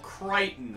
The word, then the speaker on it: Crichton: I've never read any of his books Michael Crichton right that's how it's pronounced yep okay all right here we have